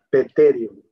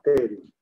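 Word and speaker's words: pterion: El tercer punto, este que les estoy mostrando acá, se llama peterium. Se escribe así, se llama terium, pero se escribe así, peterium.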